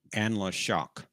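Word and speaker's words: Anla'shok: Actually, it's pronounced Anla Shock.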